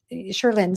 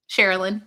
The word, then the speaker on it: Cherylyn: were talking about um, Sherlin. Sorry. Am I saying that name right? Cherylyn. Yeah. Cherylyn. Cherylyn. Okay.